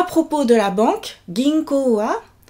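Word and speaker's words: 銀行: « Ginko wa arimasu ka ?»« Ginko wa arimasu ka ?» Alors, ginko, prononciation toujours, ginko, on allonge le dernier O, ginko o.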